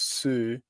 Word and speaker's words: Szűcs: entry it's like a it's like a CH sound at the end so you goes Sue like almost like Ronaldo goes Sue yeah you know Sue